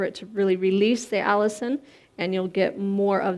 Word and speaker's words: allicin: the immune system and it's called allicin it's not spelled the same as the name but it sounds the same and that is lost